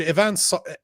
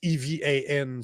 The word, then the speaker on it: Evan: But the point is that this dude Ivan Ivan Ivan Ivan, however the we pronounce his name. Let me bring up his No, it's Evan.